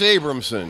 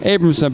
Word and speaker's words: Abramson: my friend Abram hamson how do you pronounce it it's Abramson Abramson but it's got a abrahamson that's misspelled my